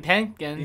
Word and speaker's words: Penkin: Kevin Penkin. Yeah. That's how you pronounce his last name, but his score is, I think, the best anime score of the year.